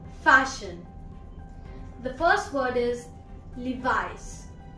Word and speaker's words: Levi's: The first word is Levi's. Levi's. Not Levis. Levi's.